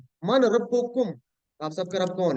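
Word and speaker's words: ربكم: अल्लाह, मन रब्बू मन रब्बिका, मन रब्बुहुम, रब्बुहुम अल्लाह, मन रब्बिका, रब्बुका, रब्बी अल्लाहु, मन रब्बिकुम। रब्बुना रब्बुकुम। अल्लाह। ये बात प्रैक्टिस करें तो आपको इंशाल्लाह प्रोनाउंसिएशन सही होगी। रब्बुकुम है, रब्बाकुम नहीं है, ठीक है ना?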